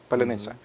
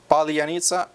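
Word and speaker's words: паляниця: Just, man, just tell it, palyanitsa. Palyanitsa, welcome, buddy.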